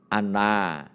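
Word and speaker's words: أنَّ: itu kitabnya ada tandanya kalau ada Hamzah dibawa Alif ini Ina kalau di atas itu bacanya Ana Kalau tidak ada kode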